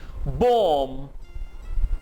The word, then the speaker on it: bomb: bomb, bomb, bomb, bomb नहीं होगा, last B silent होगा।